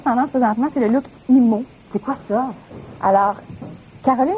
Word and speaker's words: emo: présentement, c'est le look emo. C'est quoi ça? Alors, Caroline est plus emo, mais quand même une inspiration qu'on recommence. Emo, ça s'écrit E-M-O, la prononciation anglophone.